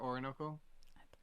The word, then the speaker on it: Orinoco: Or how do you pronounce it? The name of that river, Orinoco.